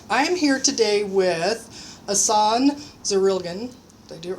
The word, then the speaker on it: Jasson Zurilgen: I am here today with Jasson Zurilgen.